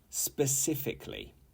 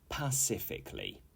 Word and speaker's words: specifically: example polar bears live in the Arctic 18 specifically specifically not pacifically okay this is a common error and this